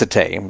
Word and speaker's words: Sate: Satay, I think it's Satay. It's spelled Sate because you can't put any accent on the E.